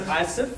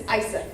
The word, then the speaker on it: Iseph: So it's pronounced Isef? It's Isef. Isef. ISEPH, Isef. Isef. Yes, like iPhone, but Isef. Yeah. With an F. With an F. Definitely an F.